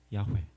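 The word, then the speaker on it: 야훼: 우리는 이게 이제 밝혀진 바로는 야회라고 하는 발음을 한다는 것을 알고는 있지만 만약에 이것이 없이 읽으면 왜 이렇게 된대요.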